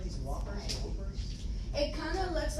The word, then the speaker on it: Whoppers: They're pronounced Whoppers.